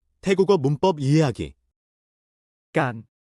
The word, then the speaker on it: การ: 태국어에도 이와 비슷한 마법이 있는데 바로 깐 입니다.이 작은 두 글자 단어가 태국어에서 정교한 생각을 표현하는 열쇠를 주고 있습니다. 함께 알아볼까요? 깐 에힘 깐은 중간 음조와 긴 모음으로 발음됩니다. 가안이라고 말하되 짧게 끊는 느낌입니다.이 마법 같은 접도사를 동사 앞에 붙이면 놀라운 일이 일어납니다.